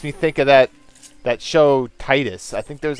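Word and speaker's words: Tidus: And that's, some people say it should be Titus, look tight, but I remember hearing it called pronounced Titus ever since like the trailer when Final Fantasy X was first revealed. And the English announcer called it Titus, so I'm like, okay, Titus.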